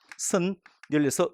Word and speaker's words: 선열: 그럼 발음을 이렇게 해요. 선 열려서 니음을 첨가시켜. 그게 맞겠죠? 근데 현실적으로 이거 아니고요. 그냥 선열. 이것은 이렇게 연음을 시켜서 발음하고 말더라고요. 이 첨가된 니은이 아니라 앞에 받침 니은이 뒤로 넘어왔을 뿐이에요.